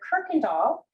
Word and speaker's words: Kuykendall: pleased to welcome dr kirkendall uh it is pronounced crocodile with a r sound even though it's spelled with a u um we are pleased